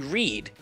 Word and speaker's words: Reid: Oh, okay, so raid is actually read. That's how you say it. It's spelled R-E-I-D instead of, well, yeah. It's spelled like R-E-I-D, but it's said like there's 2 E's. Yeah, it's like Andy Reid, our old Eagles manager.